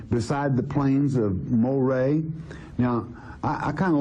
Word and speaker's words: Moreh: But Moreh, and this is the proper pronunciation, quite frankly, in Latin for Murray is Moreh, all right?